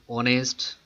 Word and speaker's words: honest: It will be noticed that the words our, honest here begins with a vowel sound as the initial consonant H is not pronounced.